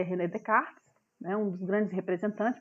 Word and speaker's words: Descartes: Se escreve Descartes, mas se lê Descartes, né?